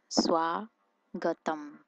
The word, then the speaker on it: Swagatam: If you want to say welcome to my house or welcome to my place, for welcome, you use Swagatam. Swagatam. No D sound at the end over here.